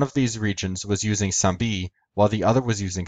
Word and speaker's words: sampi: Sambi. In classical Greek, this letter would be pronounced sampi.